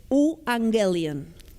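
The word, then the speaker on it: euangelion: en griego que es uangelian. De ahí sacamos la palabra evangelio que es idéntica en griego y en español. U. Angelian está hecho de dos palabras. U, que se escribe e u quiere decir buenas.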